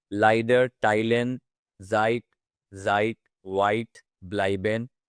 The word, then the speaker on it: leider: Next up, we have the very important combination of A and E, or E and I. The pronunciation will be I. So we'll say as in my, leider, teilen, seid, seid, white, bleiben, und Zeitung.